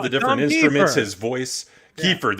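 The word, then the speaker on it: Keifer: different instruments his voice kefir that's how you pronounce it the blues style to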